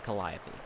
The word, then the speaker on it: Calliope: do know that I do know that it's pronounced calliope uh oh you open the back door and